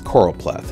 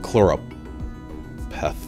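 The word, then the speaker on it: choropleth: thing I did was I learned how to pronounce corop pleth because it's corop pleth not chloro pth pleth pth it's coral pleth and then I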